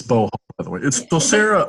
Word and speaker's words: Beauhal: Yeah, so Sarah, it's Beauhal, by the way.